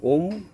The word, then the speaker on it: ওম: ওম প্রথম অক্ষর অ দ্বিতীয় অক্ষর ইউ তৃতীয় অক্ষর ম অ ইউ অ চালু হবে আমাদের এই পেট থেকে অটা বলব পাঁচ সেকেন্ড ইউটা আমাদের গলার কাছে যেয়ে পাঁচ সেকেন্ড উচ্চারিত হবে এবং ম শব্দটি যেটা আমাদের নাক এবং নাক এবং মুখ দিয়ে ঠোঁট দিয়ে উচ্চারণ হবে এবং এই ম শব্দের